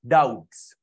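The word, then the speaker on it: doubts: डाउटफुल डेट्स, DOUBT, B is silent, डाउट्स।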